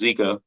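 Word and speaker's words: Jika: it so it's pronounced zika rig it's spelled j-i-k-a but it's pronounced zika um ours is called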